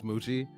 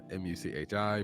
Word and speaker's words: Muchi: himself my name is moochie uh m-u-c-h-i pronounced m-o-o-c-h-e-e muchi the noise of